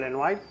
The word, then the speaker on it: Lenoir: Los protagonistas, que no lo hemos dicho, los protagonistas de las dos novelas gráficas son Léon Lenoir, bueno, Lenoir, lo pronunciaríamos así.